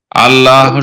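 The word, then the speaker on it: الله: জি, জবর অথবা পেশ হইলে লামের ডাইনে জবর অথবা পেশ হইলে তাইলে পুর করিয়া পড়িতে হবে, আল্লাহু এরকম পড়িতে হবে।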